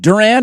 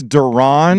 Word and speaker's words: Duran: Is it uh is it Duran? Is that Duran? Duran. I can't I always forget how to say his last name. I think it's Duron.